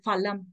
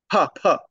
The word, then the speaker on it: फलं: महोदय एक प्रश्न एक्चुअली इन संस्कृतम् एकः प्रश्नः अस्ति how do we pronounce palam or phalam, which is the right फलं, फलं, phalam, okay. फलं, तत्र संस्कृत किं भवति, अल्पप्राणः महाप्राणः इति वदामः।